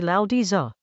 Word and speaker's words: Laozi: The Tao Te Ching is a Chinese text from around the 4th or 3rd century BCE, attributed to a figure called Laozi, roughly Lao Di Za.